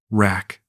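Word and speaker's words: รัก: She giggled when I pronounced it wrong. "No. No. Like this. Rack. Short sound."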